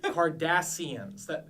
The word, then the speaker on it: Cardassians: Kardashians, Cardassians. Yeah, it's actually spelled with C.